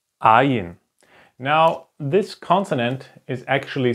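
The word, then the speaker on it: ע: And the ayin is exactly the same. It's pronounced the same. Okay, it makes the same sound.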